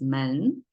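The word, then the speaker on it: 门: uh facing each other it has two panel door pronounced as men and now if you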